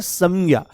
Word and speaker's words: संज्ञा: इसको बहुत शुद्ध उच्चारण करेंगे तो संज्ञा शब्द है संज्ञा। देखो हम कहते हैं संविधान। तो आपने क्या बोला? आपने अनुस्वार में म को बोला।